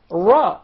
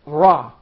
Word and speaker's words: ر: I wonder, this letter for the English speakers is pronounced totally different, from a totally different articulation point than the letter Ra in Arabic.